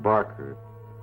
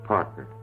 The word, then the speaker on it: Parker: It's not Barker. It's Parker.